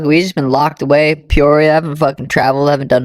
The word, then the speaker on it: Peoria: We're at the Red Hawk Academy in, Pierre? How do you say it? Peoria, West Arizona.